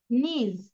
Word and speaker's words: knees: These are my Knees, কে এর knees.